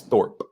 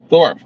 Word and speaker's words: Thorpe: up right um oh thoron uh yeah Drew Thorp you know good yeah yeah it's Thorp Thorp my apologies Drew Thorp that's how new he is I don't even